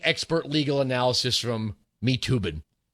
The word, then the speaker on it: Toobin: legal analysis from me toobin the last name is very unfortunate because it rhymes with lubin there's just too much